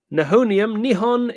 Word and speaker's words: Nihon: Nihon is one of the pronunciations of the Japanese word for Japan.